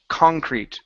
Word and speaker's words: concrete: Next word is the word concrete. The stress is at the very beginning.